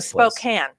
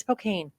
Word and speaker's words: Spokane: to be here here this is it's like Spokan always called it's Spokane always spane there they say SP but then